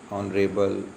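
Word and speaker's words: honorable: इसके बाद कुछ वर्ड्स हैं जिनमें एच साइलेंट होता है। ठीक है, जैसे कि आप यहाँ पर देख सकते हैं एनआर, ठीक है, ऑनरेबल, एन ऑनर, honest person.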